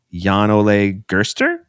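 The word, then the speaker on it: Jan-Ole Gerster: It is written by some people and it is directed by, I want to say, Yan Ole Gerster. Yes. All right, that's correct. I listened to the pronunciation and that is it.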